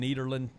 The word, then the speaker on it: Nederland: from nederland it's actually if you talk to someone from nederland from the netherlands you go are you from nederland they so much appreciate the fact that you pronounce it with a d because they they don't pronounce it with the th it's a d needle makes you wonder